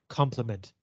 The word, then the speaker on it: complement: when you say them the pronunciation is exactly the same both are complement but if it's i